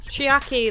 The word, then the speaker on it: Chiaki: team were myself Gundam kazuichi chiaki and hiyoko chiaki that's how you say it spending the night